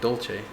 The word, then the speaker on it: Dylas: According to the wiki, it's pronounced Dolce.